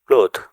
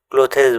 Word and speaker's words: clothes: CLOTHES ক্লোথ মানে পোশাক। এখানে এইচ এর পরে ই লেটারটি সাইলেন্ট থাকবে। আমরা এটা ক্লোথেস বলবো না, ক্লোথেস বললে এটা ভুল হবে। GENE জিন।